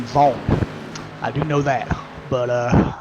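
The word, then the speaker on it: Wang: Now, I do know that the 85 car, his name is spelled W-A-N-G, but it's actually pronounced with a V and an O instead of a W-A, so it's actually Stefan Vaughn.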